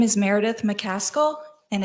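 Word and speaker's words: McCaskill: the record for us my name is Meredith mcal and it's spelled m e r e d i t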